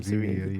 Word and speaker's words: Savini: It's Tom Tom Savini, yeah. I don't like pronouncing things wrong, especially if I'm recording.